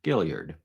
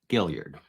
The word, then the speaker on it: Guillard: way through so it's apparently I've been saying her name wrong Gillard I I assumed dou L French but Gillard but they aren't giving